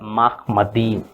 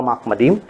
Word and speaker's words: Machmadim: ठीक है, और वो माहमदीम वर्ड को माहमद कहते हैं, और ईम जो है, लास्ट में जो ईम है, स्पेलिंग ऐसा होगा माहमदीम, MACHMADIM, माहमदीम। ईम को वो हटा देते हैं।